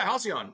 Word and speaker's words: HALCYON: How do you pronounce the product? Yeah, HALCYON.